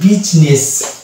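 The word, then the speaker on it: business: তো এই জায়গাতে কিন্তু আই সাইলেন্ট থাকে, এটা হয়ে যাবে বিজনেস।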